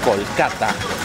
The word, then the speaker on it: Kolkata: Después de un viaje de más de 24 horas hemos llegado a nuestro destino final, la ciudad de Calcuta, o pronunciada en hindi como Kolkata.